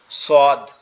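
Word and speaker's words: ص: আর এইটুকু হইলে সদ এই সদটা কোথা থেকে উচ্চারণ হবে সদটাও ঠিক একই জায়গা থেকে আমাদের জিহ্বার আগা নিচের দুই দাতের আগার সঙ্গে লাগবে লেগে উচ্চারিত হবে সদ সদ সদ সদ এভাবে এভাবে ছোদ ছোয়াদ এভাবে উচ্চারিত হবে।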